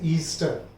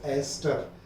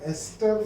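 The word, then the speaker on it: ester: Don't call it एज ईस्टर, इट इज टू be pronounced as एस्टर, है ना।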